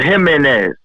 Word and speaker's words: Jimenez: And to all the decals out there, it's spelled Jimenez. H-I-M, because I was a man, H-I-M-E-N-E-Z. You know what I'm saying?